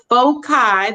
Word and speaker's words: foci: It's very important to know that there are two fixed points in the plane called foci. That's how you say it when it's plural.